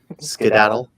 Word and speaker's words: skedaddle: What Civil War slang verb meaning run away rhymes with saddle? Skedaddle.